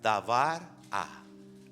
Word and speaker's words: Débora: escuchamos Débora y decimos Débora." Pero, ¿sabes cómo se pronuncia en hebreo? En hebreo se pronuncia dabar a.